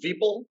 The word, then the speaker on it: Vipal: It's my name is Vipal, rhymes with people. It's people with the V. Once you get it, you'll never forget it.